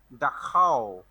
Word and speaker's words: Dachau: আচ্ছা, প্রথমটা উচ্চারণ হচ্ছে ডাখাও, শুনেছো?